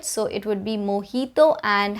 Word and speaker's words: mojito: way it looks like mojito and jalapeno but that would be incorrect it's mojito and jalapeno the j is pronounced as an h sound in the spanish language so it would be mojito and jalapeno kind of